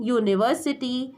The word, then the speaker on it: university: As you can see again that U is vowel but the U in university sound like Y. University.